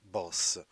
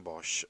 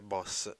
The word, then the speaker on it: Bosch: era nato a sertoren Bosch o sertoghen boss boss di detto all'olandese quindi Bosch la pronuncia tedesca e boss era pronuncia olandese quindi è nato in